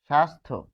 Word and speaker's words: স্বাস্থ্য: সন এইযেধা দেখুন কোথাও আপনি যফ ফল আর উচ্চারণ পাবেন পাবেন না সন্ধ্যা। তারপর আমরা পাচ্ছি আরো লিখবো যে স্বাস্থ্য। স্বাস্থ্য তাহলে এখানে কি পাচ্ছি?